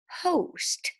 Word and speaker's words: host: is saying oh so it's a closed syllable exception and we have our